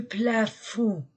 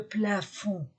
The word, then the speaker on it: plafond: sac masculin singulier le plafond masculin singulier je ne prononce pas le D le plafond la règle féminin un